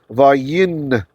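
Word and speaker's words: וַיִּקָּבֵר: There is a noon, a sneaky little noon, hiding inside of the kof. If it's easier if you see it. I'll try to make it heard in pronunciation. So, vayikkaver. See, there's two kofs there, or kufs, however you like to call it. So in ancient Hebrew, pre-biblical, it would have been vayinkaver.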